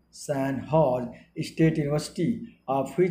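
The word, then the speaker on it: San Jose: recently the सैन जोस pronounce the sign हॉज state university of which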